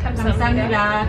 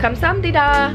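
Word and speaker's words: 감사합니다: Kamsahamnida. Kamsahamnida.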